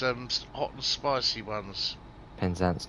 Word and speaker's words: Penzance: sure as horizon looks to say hi it's pronounced penzance not penzance must like red yeah you will get it